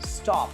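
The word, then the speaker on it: stop: जब भी आपको कभी ओ प्रोनाउंस करना पड़े तो उसे होठ ना घुमाओ, ऐसा घूम जाता ना, स्टो, ओन। ओ बोलते ही हमारा होठ घूम जाता है, होता है कि नहीं होता है?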